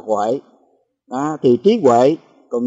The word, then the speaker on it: Huệ: là cái chữ Tuệ cái người miền Trung miền Bắc thì đọc là Tuệ còn người miền Nam chúng ta đọc là Huệ đó thì Trí Huệ